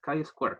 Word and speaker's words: chi-square: En inglés es chi-square, así se pronuncia.